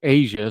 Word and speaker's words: Aja: I reached out to Aja, pronounced Asia, so I was saying it wrong.